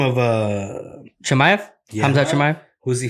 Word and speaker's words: Chimaev: Yeah, Chimaev.